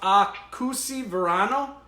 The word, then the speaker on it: Akoho Sy Voanio: have wrote this down, but it's like it's pronounced Akoho Sy Voanio. Where's Tanya when you need her? I was going to say, where's Tanya? She correct me. Yeah, Akoho Sy Voanio.